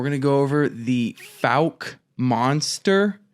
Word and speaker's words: Fouke: to go over the Falk monster I believe that's correct FAL f f like fouchy yeah it took a while too because it's it's spelled f o u k e so that one kind